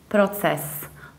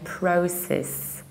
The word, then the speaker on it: process: reduce the ending and you can say process process however in the American accent so we do something totally different because we don't say pro but we say prowl with our it's process process so process versus process process our next word is